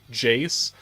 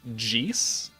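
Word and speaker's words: Jeice: Did you know that the correct pronunciation of the character in Dragon Ball Z from the Ginyu Force, Jace, is technically Jeese?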